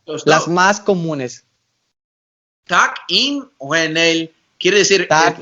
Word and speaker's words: tak: Tak, Tak. tak, inwenel, Tak. Inoenel. tak, tak, Trak. tak, Trak. T, A, K, con Ah, acento en la primera A.